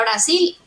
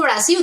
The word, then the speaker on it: Brasil: que desbloqueas y ya la regla es todo lo que termina en D e se dice y, eh, lo que termina en se dice u, entonces Brasil, tú, yo digo Brasil, tú dices, ¿qué? Pero Brasil es Brasil porque terminó en L.